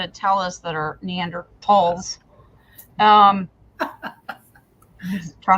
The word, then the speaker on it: Neanderthals: if they existed the Neanderthals um supposed to not use the foot that the H is silent and we're supposed to say talls but we have a